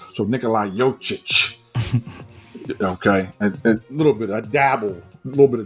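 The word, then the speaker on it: Jokić: the end of it there's no h on it but you have to pronounce the CH so Nikolai yochich okay a little bit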